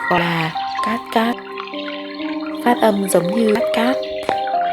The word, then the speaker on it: Cát Cát: nước đẹp lung Linh trong tiếng Pháp thác nước được gọi là Kaskad phát âm giống nhưt cát đó ngôi làng nhỏ có tên là phát âm giống như cát cát .